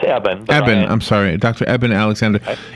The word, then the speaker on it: Eben: Well, it's Eben. I'm sorry. Dr. Eben Alexander. Eben is how it's spelled if you're looking him up, and we'll tell you more at the end.